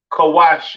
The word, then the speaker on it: Cush: Cush, pronounced Kawash in the Hebrew, all right?